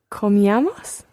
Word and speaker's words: comíamos: Comíamos. Aha, almost right. Just watch your stress here. The stress is on the E. So comíamos. Comíamos. Just like tomábamos.